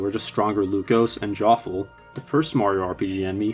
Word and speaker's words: Joffle: Mackles who are just stronger Lucas, and Jinx, the first Mario RPG enemy whose name rhymes with awful.